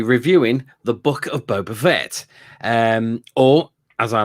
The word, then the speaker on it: Fett: boba in it boba fett my name is boba fett she says i say the last name wrong it's vet not vet as in v-e-t it's fett which is correct yeah anyway are